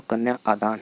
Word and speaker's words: कन्या आदान: कन्यादान शब्द ही नहीं है, वास्तविक शब्द तो कन्या आदान है।